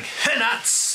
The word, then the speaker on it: Hennuts: I'm AFK underscore Doug Hennuts. That's right. I do pronounce the underscore and the H is definitely not silent.